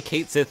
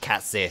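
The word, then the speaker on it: Cait Sith: Apparently Kate Sith isn't actually how you pronounce that name. It's like Cat Sith.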